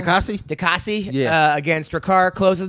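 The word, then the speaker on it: Diakiese: Dikasi.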